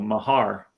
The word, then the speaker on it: Mahar: he pronounced it uh with the emphasis on the second syllable Mahar but I've heard that